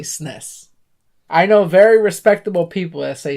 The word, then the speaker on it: SNES: I say SNES. It's SNES. one syllable.